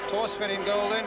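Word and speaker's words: Thorstvedt: Tors in golden, 51 caps for Norway. You don't pronounce the H in his name, incidentally, taking over, as Elton says, from Bobby Mills.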